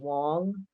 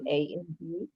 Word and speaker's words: Wang: And the director, it was an early film of the director Wayne, I think he pronounces his last name Wong, Mhm. Wang.